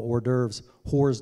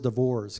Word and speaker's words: hors d'oeuvres: fun of me because i would call hors d'oeuvres divorce because that's what it looks like when you spell it and the golden cups